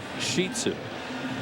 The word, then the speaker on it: Shih Tzu: not real big and it's pronounced shitsu say it wasn't I know I would have said Shih Tzu that's why I got